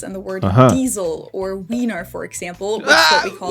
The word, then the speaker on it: Wiener: from the fact that we also have the letter combination of IE in a lot of words, and that one's pronounced as E. You can find this in the word Diesel or Wiener, for example, which is